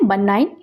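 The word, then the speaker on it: benign: इसका प्रोनाउंसिएशन है बनाइन।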